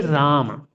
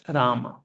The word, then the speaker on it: Rama: So for 32 syllable to complete if you say Ram it's not 32 syllable it is Rama Ram Ram a done rahma then two syllables come you understand the difference